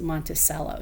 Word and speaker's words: Monticello: back of the nickel, called Monticello, but we pronounce it Monticello, so that's pretty cool stuff.